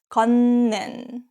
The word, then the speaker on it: 걷는: 걷는, walking. 걷 ends with T sounds, 걷, and then 는 is start with ni은. This case is pronounced as 걷는, 걷는.